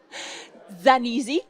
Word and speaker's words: Zanisi: À côté de vous, Zanisi, comment on le prononce dans la langue d'origine ? Zanisi. Zanisi, donc italienne.